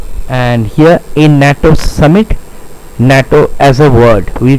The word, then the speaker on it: NATO: it's an MP3 and here in NATO summit natto as a word we pronounce natto as a word which starts with a consonant sound.